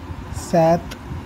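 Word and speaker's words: sept: सेथ लिखा है 7 के लिए, लेकिन हम लोग सेप्ट बोलते हैं सितंबर में. इसमें क्या है, पी प्रोनाउंस नहीं होगा.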